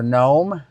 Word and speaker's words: Nome: So let's go to Nome, Alaska. Oh, here we go. I'm spelling it wrong. It's not spelled like the lawn creature.